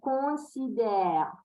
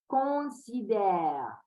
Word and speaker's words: considère: Je considère, on. The air has to go through the nose and the mouth at the same time, yes, to pronounce this on, both. Considère.